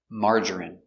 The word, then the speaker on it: margarine: I don't like margarine pronunciation margarine mm ah open Sound a m mar mar J J strong J Marge marger marger I Margery Margery margarine margarine margarine three syllables stress on a first syllable Marge margarine margarine I